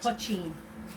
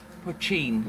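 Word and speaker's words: poitín: Right, do you want to say how it's pronounced? Because I just can't. Pochine. Pochine.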